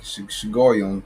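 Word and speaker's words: Shiggaion: It's like Shigoyon, the proper pronunciation.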